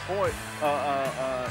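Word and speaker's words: Royce: All of their names begin with R, and they're very unique names, and it's pronounced Hoyce, H. The R's are H's. It's Portuguese from Brazil.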